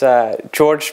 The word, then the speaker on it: Jorge: Okay, well, my name is Jorge. It's actually spelled with a J. It's a Spanish version of Jorge.